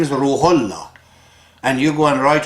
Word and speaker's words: Ruhollah: For example, Ayatollah Khomeini in Iran, his name is Ruhollah. And you go and write whose name? Ruhallah.